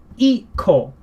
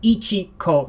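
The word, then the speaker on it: 一個: We pronounce this as iko, iko. And this is a very standard way of pronouncing it. So instead of ichiko, it's simply iko.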